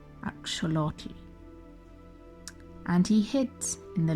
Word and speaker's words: axolotl: He ran away and disguised himself as a maize plant, an agave, and finally what we call in the West an axolotl, but what we now know is pronounced axolotl.